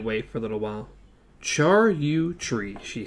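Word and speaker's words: Charyou tree: "Char you tree," she said at last, pronouncing it as Roland had, chair, which I thought was interesting. Chair you tree.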